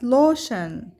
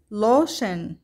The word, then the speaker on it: lotion: هنا لدينا كلمات تنتهي ب T I O N وتلفظ شن شن، مثل كلمة lotion lotion وتعني المرطب، station station وتعني المحطة.